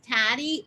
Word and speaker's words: Taddei: the most part mrs taddy and the reason is it's um it rhymes with daddy and most of my